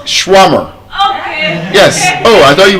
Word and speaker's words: shawarma: It's shwarmer. Yes. Oh, I thought you were here. It's not shawarma. It's shwarmer.